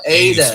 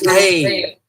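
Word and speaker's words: ἡ: So if you say it like how Praise said it, you sound like Fonzie, right? But this is hey, because he's a rough breather.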